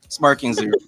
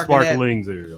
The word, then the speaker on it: Sparking Zero: sparkling zero sparking zero sparking zero not sparkling zero sparking that zero you keep getting the name wrong man you get a